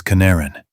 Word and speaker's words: Canaran: My last name is Canaran. It was and now it's Canaran. Like yellow pigment only with the stress on the second syllable.